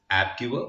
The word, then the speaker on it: AppGyver: So the app giver, so it's spelled as app giver, but it's APPGYVER, is a no-code tool